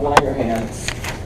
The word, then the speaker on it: Langerhans: Langerhans is spelled with an S at the end, but we don't pronounce it. So islets of Langerhans are those little pockets of hormone-producing cells.